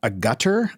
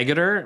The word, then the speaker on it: Agutter: Jenny, I don't know how to pronounce her name. Agutter, I think. Agutter. Agutter. Yeah, Agater.